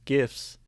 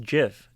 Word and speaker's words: GIF: it's been seven years since the creators of gifts confirm the correct pronunciation of the word this just proves that